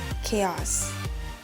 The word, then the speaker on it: chaos: ะ ค ะ อ่ า น ว่ า chaos น ะ ค ะ เ ป็ น เ